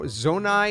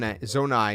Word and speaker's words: Zonai: about this tribe called the zo zonai if i'm pronouncing it